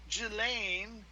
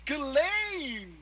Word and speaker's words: Ghislaine: maybe harado left for gillane it's not just lane it's kellane you're pronouncing it improperly uh maybe he left